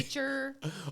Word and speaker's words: Becher: Jane Becher. Yes. Now that I can say your last name properly. I know. Most people don't. Our kids rarely know their last name. Like Oh, really? Becher.